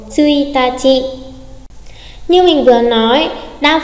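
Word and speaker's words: 一日: À, tsuitachi. Tsuitachi, mùng 1, tsuitachi.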